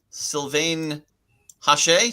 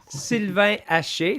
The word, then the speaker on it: Sylvain Hache: Also, next up, we have Sylvain Hache. Did I say it right? Oh, that was nice, Michael. Sylvain Hache.